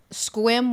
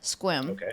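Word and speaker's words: Sequim: i'm going up to squim washington which is spelled s-e-q-u-i-m squim and it's between port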